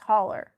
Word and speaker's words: holler: It's It's just hauler.